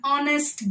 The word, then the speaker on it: honest: Words like an hour, an honest girl, an honorable man. So you don't pronounce it as hour. The H is silent. In honest, H is silent.